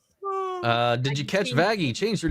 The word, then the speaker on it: Vaggie: Uh, did you catch Vaggie? Change her name like Blitz from Hella. The E is silent.